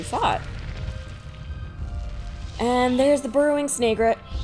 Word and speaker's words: Snagret: and there's the burrowing snagit people usually say snagret I think just because of the way it's spelled but I've already explained my thoughts on that burrowing snagret snavi family